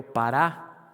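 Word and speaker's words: פרע: Y la palabra descontrol, anótalo, es la palabra en hebreo pará, así como suena con acento en la última.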